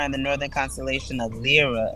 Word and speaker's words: Lyra: the northern constellation of Lyra or Lyra. Lyra? Am I pronouncing it? Yeah, Vera. And I was just no, it's Lyra.